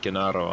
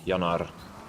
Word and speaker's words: Jaro: uh how I spell how I pronounce my name in English but in my language it's actually pronounced yanar not J Yar yeah just Yar you got the r is like a like in Spanish kind of yeah I guess